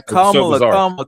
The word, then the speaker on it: Kamala: It's just sorry, Kamala. Kamala.